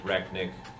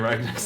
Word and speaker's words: Rek'Niht: Canonically, it's funny that Leonidas has been saying Rek'Niht's name wrong. I mean, that's just Dan. Rek'Niht? Yes. Yep, like you knit a sweater.